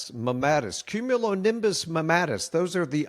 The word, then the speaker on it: mammatus: How do you pronounce it? Mammatus? Mammatus. Mammatus.